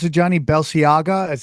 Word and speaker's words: Balenciaga: night we were talking about how do you pronounce it, Johnny? Balenciaga? As how do you Oh, Balenciaga. Balenciaga.